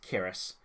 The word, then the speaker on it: Kiris: Well, for my birthday, my oldest brother, who has been on the show as Kiris, always pronounced it as Kyrus before, but apparently it's pronounced Kiris, he got me a tea set, you know, some teacups and teapot and all that.